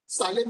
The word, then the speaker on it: Salem: सालेम पता है क्या? सेलम सेलम बोलते हैं, सालेम में एक्चुअली स्पेलिंग गलत होता था, ठीक है।